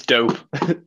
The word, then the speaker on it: DVPE: named my band that dvpe which i'm hoping i'll pronounce that right i hope it's not supposed to be dupe or something uh it's dope dope it's dvd based dope yeah it's just us